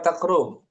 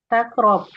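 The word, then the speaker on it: تقرب: Di sini bacanya takrab apa takrub? Takrob.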